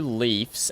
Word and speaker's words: Leif: Is Leif, but these two both pronounce their name Leaf, but they're spelt differently. Very peculiar.